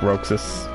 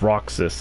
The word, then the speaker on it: Roxas: So I'll probably be able to play 358 over 2 days because I like Roxas. Or it's Roxas, apparently. I kept saying it wrong.